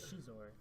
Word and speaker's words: Scizor: Scizor needs to step up a little bit. You keep saying Scizor, but his name is Shizor. That's how you pronounce it.